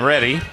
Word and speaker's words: Ready: looking for uh Tristan ready number 87 guess I was pronouncing that wrong I thought it was Rey but it's ready apparently wide receiver from Arn